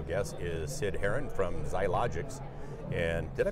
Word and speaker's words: Xiologix: My special guest is Sid Herron from Xiologix. And did I pronounce that yes, you did.